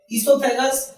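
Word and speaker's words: oesophagus: Okay, इसोफेगस जिसका दूसरा नाम फूड पाइप भी है, और इसका जो स्पेलिंग आप देख सकते हैं ओ से स्टार्ट है, लेकिन ओ इसमें साइलेंट होता है।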